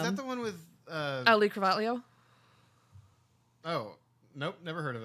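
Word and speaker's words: Cravalho: It's not really an EO on the end, but it's like HO, and it's a thing. Carvalho.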